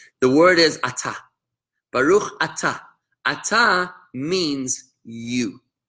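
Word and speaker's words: אתה: So this next word is atah. Starts with an aleph. The aleph is silent. It has no sound of its own.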